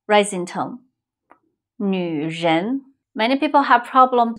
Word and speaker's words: 女: 女人 Many people have problem pronounce 女Try to round your mouth and make it as small as you can.